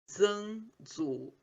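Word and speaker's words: 曾祖父: Aí, no caso, o bisavô seria Zhangzufu.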